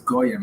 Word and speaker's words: goyim: It's not goys, it's goyim, it's plural.